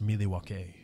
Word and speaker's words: Milwaukee: It's pronounced Milwaukee, which is Algonquin for the good land.